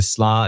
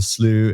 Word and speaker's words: Slo: CEO at at slow so we do proun it just slow it's the easiest my background traditionally by Heritage is Scandinavian so my Scandinavian family have a good laugh because that's not how they pronounce it in Scandinavia so depending upon where